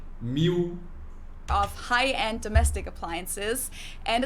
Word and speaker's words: Miele: usually say something like Miele, so it usually sounds more like an A in the end, whereas in German we say Miele. Miele. So the last letter is just a little bit different.